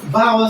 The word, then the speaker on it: vowel: So under oral English, we have the vowel sound. What I call it? Vowel sound. You don't pronounce the W. Say vowel. Vowel.